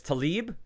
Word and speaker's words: Talib: I'm assuming the pronunciation is Talib, T-A-L-I-B, T-A-L-I-B. So Talib.